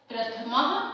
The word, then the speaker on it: प्रथमः: प्रथमः पाठः, ये जो विसर्ग है इसे ह उच्चारण करते हुए पढ़ेंगे आप लोग। प्रथमः पाठः, आपके प्रथमः पाठः में है प्रयाण गीतम।